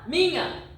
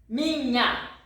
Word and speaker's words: minha: So, NH, the sound, where is it, please tell me, minha, here, NH, alright? NH, minha. It's you say this like the pronounce of it. It's like mignon in French. Mignon. French. Or if you are hungry, it's like you pronounce it lasagna. Yeah, Italian or in English also. So, lasagna. Alright? The same sound.